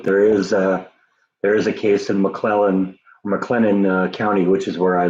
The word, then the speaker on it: McLennan: I keep saying McClellan, and it's not McClellan, it's McLennan.